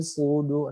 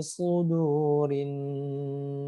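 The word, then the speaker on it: صدور: Sod yang bertasdid. Jadi bukan su dibacanya, bukan sin, tapi su ya. Alladzi yuwaswisu fi sudur. Nah, su dia harus tebal jadinya su. Ya, kalau enggak tebal jadinya su. Ya, kayak sama dengan huruf sin. Ya, tapi dia harus tebal jadinya su begitu ya.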